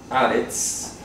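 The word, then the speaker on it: הארץ: Resulta que la palabra Haaretz en hebreo, Haaretz, se pronuncia Haaretz, significa literalmente la tierra.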